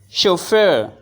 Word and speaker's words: chauffeur: what is your finding chauffeur chaur chauffeur we have two sounds sh sh sh and F fur